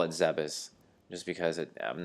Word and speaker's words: Zebes: to my log space pirate encrypted data decoded Zebes has fallen now going back to my Super Metroid playthrough I've always pronounced it zebes since when I was a kid I'm not gonna call it zebus just because it I'm not gonna remember to